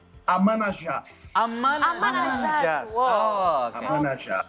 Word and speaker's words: Amanajas: We are now connected with the man himself, How do I pronounce Ayas? How to pronounce it? Ayas? Your last name? It's Amanajas.